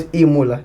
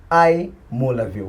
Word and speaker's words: iMulavyle: You must pronounce this right. It's not iMula, it's iMulavyle.